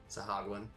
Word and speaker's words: Sahuagin: Sahagwin.